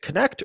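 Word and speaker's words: Knecht: Dalton neck is it connect or NE I think it's connect are are we pronouncing the K I like the connect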